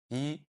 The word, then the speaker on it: 一: So, if the character yi appears alone or appears at the end of a word or a phrase, it's pronounced on this default tone, the first tone, yi.